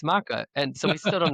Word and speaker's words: MaKa: So, what would be Maka? And I thought that's that's the way I'll pronounce it. Maka. But there's no wrong spelling or pronunciation. The funny story is my wife disagrees with me on the pronunciation of my own company name. She's like, "It's Mecca." Because she's a big teacher. She's into phonetics and it's Matthew Hamic, so it's Mecca.